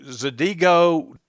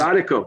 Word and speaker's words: zydeco: You So gotta learn isn't about isn't the music Zadigo? Is it. that Zydeco. what is it called? Z- Zydeco.